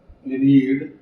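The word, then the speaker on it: read: रीड की third form रेड। Okay? Spelling वही है। प्रोनंसिएशन चेंज हो जाता है।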